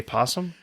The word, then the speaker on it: opossum: pot so you set you spell opossum but you say possum possum is spelled with